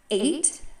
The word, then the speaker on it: ate: Both of these words are pronounced with a long A.